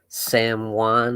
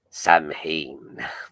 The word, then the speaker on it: Samhain: celtic tradition you know representing sam juan is that how you say it i know uh dr loomis botched that in halloween too he said it he said samhain but it's actually someone said one is that